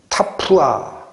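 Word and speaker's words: תפוח: 이게 왜 예수님을 지칭하게 돼 있느냐면, 발음 그냥 한번 해드릴게요. 타푸아라고 읽어요. 사과나무가.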